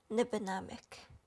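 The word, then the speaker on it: Nibinamik: the northwestern ontario canada in my ojibwe language it's pronounced nibbanamic the only way to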